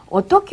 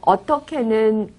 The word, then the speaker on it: 어떻게: 그리고 또 어떻게는 어떻게라고 쓰지만 발음할 때는 어떻게라고 발음합니다.